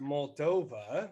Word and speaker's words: Moldova: It's pronounced Moldova.